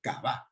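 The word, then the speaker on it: qavah: No le puse el acento, pero se pronuncia kabá, con el acento ahí en la A.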